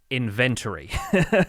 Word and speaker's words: inventory: inventory i say it inventory so i put the emphasis on the second syllable and i get i